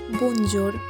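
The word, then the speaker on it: bonjour: মানে হলো hello actually এটার ইংলিশ প্রোনাউন্সিয়েশন হলো বঞ্জর আর জানেন এটা না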